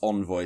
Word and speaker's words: Envoy: I think it's meant to be pronounced Envoy, so I'll try and do that in future.